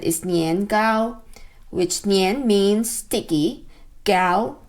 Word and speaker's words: nian gao: the southern china in the late 1900s mandarin pronunciation which as i said is nian gao which nian means sticky gao gao is cake